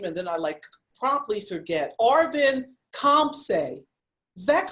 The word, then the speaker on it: Arvin Khamseh: Okay, so he told me how to pronounce his name, and then I promptly forget. Arvin Khamseh.